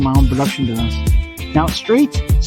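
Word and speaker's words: Straith: So straight slate. So I'm kind of straight. My last name is Straight. It's spelled just like the word S R A I T H.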